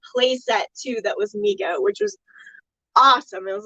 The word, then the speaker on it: Mego: It's spelled M-E-G-O. A lot of people want to say Mego, but it's Mego. Mego.